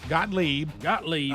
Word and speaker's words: Gottlieb: Gottlieb, is that how you say it? Yep. Gottlieb.